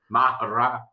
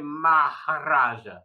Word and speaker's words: Maharaja: Mahara. What is it? You haven't said it right yet. Ever. The modern day Maharaja. There you go. Boom. With the tongue roll.